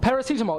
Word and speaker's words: paracetamol: know uh can you help me with the pronunciation I'm sorry PR isar isar well ismar too oh paracetamol paracetamol yes exactly I you guys call it um